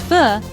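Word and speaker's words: Phở: knew this was a food experience we would never forget. It was more than just a meal. It was a taste of Vietnamese culture and a cherished family memory. Fo, pronounced fu, is more than just a dish in Vietnam.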